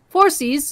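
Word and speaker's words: Phorcys: p h o r c Ys ah so fores uh was the ancient sea god of the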